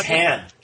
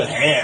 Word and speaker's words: Han: Well, it's like Han is hand. Han, I gotta help Han. Yeah. Well, they asked him why he said it that way, and he goes, "I mispronounced it."